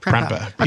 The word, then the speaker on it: Prempeh: Prempeh. Okay, so I thought I did have it right, but it's spelled a little interestingly.